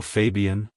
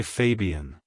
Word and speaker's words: Fabian: soft un sound at the end like hello Fabian goodbye Fabian if you found the video helpful hit the